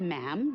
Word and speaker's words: ma'am: her majesty um and after that it's just ma'am rhymes with him and it's always a curtsy especially